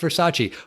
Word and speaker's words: Versace: he's like the name of the brand it's pronounced Versace but it's a beautiful dress and it looks